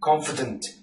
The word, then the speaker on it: confident: out to me that the letter e is not to be pronounced so obviously in the word confident it's actually confident so you omit the